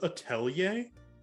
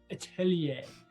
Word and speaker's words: atelier: uh it's this massive it's pronounced aelier aelier um thank you this massive atellier um Italian like no like Italian um it's French Grant you guys make